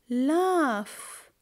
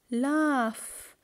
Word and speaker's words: laugh: see double F giraff laugh laugh here we have G but all of them we sound we we pronounce them as F okay student so let's